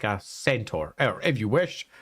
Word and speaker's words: centaur: animal traits like a centaur or if you wish, if we're pronunciate ostensibly correctly, a kentor.